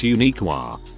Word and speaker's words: Uniclear: to be a therapist uniclear pronounced unique twins named kenneth and